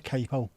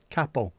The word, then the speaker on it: capo: The Italian word for head is cappo. So that thing that you put on your guitar is called a capo, not a capo. Note to all those lunatics who pronounce it capo. Capo as in the head of a Italian family of illreutees. Capoicapp. Kappo. Head. Capo.